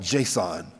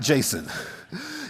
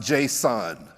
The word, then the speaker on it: JSON: naming, because it's called JSON, not Jason. And my good friend Taylor Desson here, please let him know if he didn't hear it from Dallas. It's not pronounced Jason, it's pronounced JSON.